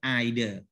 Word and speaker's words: either: either british english okay so you can pronounce you know uh edo or ido neither no or neither